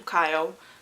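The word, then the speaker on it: Chaol: she has become a really close friend to Kyle apparently that's how you pronounce his name the captain of the Guard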